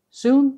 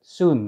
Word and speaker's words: sune: so let's get started soon is spelled s-u-n-e it originally had a swedish pronunciation but most cubers just call it soon now it looks like